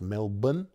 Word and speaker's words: Melbourne: like melbourne is pronounced melbourne and brisbane well i think it was never pronounced brisbane but brisbane australians like to drop as many syllables as they can and just a few